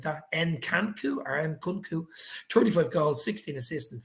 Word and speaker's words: Nkunku: If not, Konaku, I think how you pronounce his name like that, Nkunku, 35 goals, 16 assists, and 51 appearances.